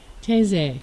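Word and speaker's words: Tesee: How do you spell that? T-E-S-E-E. Teze.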